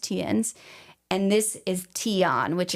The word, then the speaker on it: Theuns: The other guy, Tiens, is spelled Theuns. And yes, I did look it up. It is pronounced Tiens.